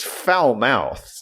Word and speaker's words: Falmouth: I mean, it's Falmouth. That's how it should be pronounced.